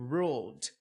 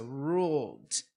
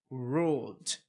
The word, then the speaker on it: ruled: Então aqui a pronúncia é to ruled, não é uma sílaba nova.